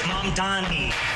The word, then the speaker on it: Mamdani: The name is Mamdani. M-A-M-D-A-N-I. You should learn how to say it. अच्छा ममदानी साहब, आपका कोमो के साथ अब कैसा रिश्ता है?